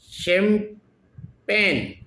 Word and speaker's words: champagne: शैम्पेन। CHAMPAGNE चैम्पेन नहीं बोलते हैं उसको, शेम पेन, शेम, CHAM, चेम नहीं बोलेंगे इसको। सी के बाद में चाहे बोलना चाहिए, लेकिन इसको शे बोलेंगे, शेम पेन, CHAM शेम पेन, PAGNE।